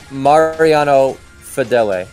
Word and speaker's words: Mariano Fedele: so it's it's pronounced Mariano Fedele I should have known that it's Spanish I should have known